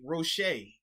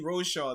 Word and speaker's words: Roche: i actually i owe this man apology i butchered his last name uh quincy rochet i initially caught him roche so yeah my